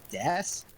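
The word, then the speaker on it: です: isaac white translate day two is pronounced desu that can't be true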